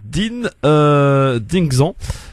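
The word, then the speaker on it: Dynexan: On parle maintenant d'une crème anesthésiante en attendant le rendez-vous chez le dentiste, qui s'appelle donc Dingxan. Ça s'écrit D-Y-N-E-X-A-N.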